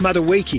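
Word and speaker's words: Madueke: It's pronounced Maduiki.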